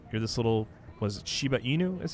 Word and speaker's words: Shiba Inu: You're this little, was it Shiba Inu is how it's pronounced, right?